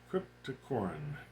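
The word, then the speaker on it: Cryptocoryne: to say green windy uh oh I keep mispronouncing that name uh crypto Corin yes okay cryp toorn uh and this of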